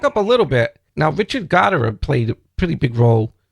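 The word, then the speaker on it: Richard Gottehrer: can i back up a little bit now richard goddard played a pretty big role in your career i don't know if i'm pronouncing his name right um well yes you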